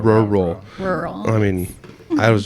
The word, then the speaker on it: Rural: I mean, I think it's just the double R's. Rural. Right? Rural.